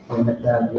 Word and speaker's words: Naphtali: Naphtali, yeah. I just say Naphtali. Yep, so Columbia to Uruguay. Actually, too, I went to college with Asher and Naphtali.